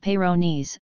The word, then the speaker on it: Peyronie's: is available what is payro knees disease Peyronie's pronounced Peyronie's disease is caused by a plaque under the